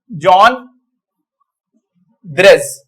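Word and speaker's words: Jean Drèze: वैसे, उनका नाम है जॉन ग्रेज। अब मैंने लिखा तो JEAN है, तो उसको जीन पढ़ना चाहिए, लेकिन इनका प्रोनाउंसिएशन है, क्योंकि ये इंग्लिश या इंग्लैंड से नहीं थे, ये बेल्जियम के थे, और बेल्जियम से इन्होंने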